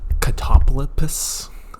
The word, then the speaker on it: Catoblepas: And apparently you pronounce it catoblepas. I don't know. It's a stupid name. First gripe, shitty name. Catoblepas. You can also pronounce it a different way, but I'm going to